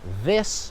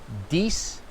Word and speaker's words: this: the time is that instead of saying this or that, often I will hear English learners say dies or dat with a D, or even worse, and this is probably the worst one, is when they turn it into a Z and they'll say zis and zat.